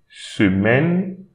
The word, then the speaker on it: semaine: So une, don't pronounce this I, semaine.